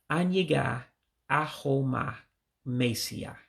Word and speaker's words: Anyaga aho ma mesia: Actually, I made a mistake in there, so let me get it right. Anyaga aho ma mesia. So there's another syllable in there that I missed earlier.